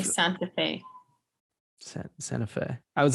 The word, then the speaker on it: Santa Fe: Santa Fe. We don't say the T. Santa Fe. It's like Santa. It's like Sana.